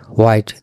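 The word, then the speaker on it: white: হোয়াইট দেওয়ার উদ্দেশ্য হলো আসলে হোয়াইট উচ্চারণ ভুল, হোয়াইট উচ্চারণ ভুল। এটা আমরা প্রচুর মানুষ ভুল করে থাকি। এইচের উচ্চারণটা কেন হয় না? হোয়াট, কি, প্রশ্ন করা।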